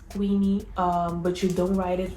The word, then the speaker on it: Queny: That is how you pronounce it. It's not Queny, it's Queny.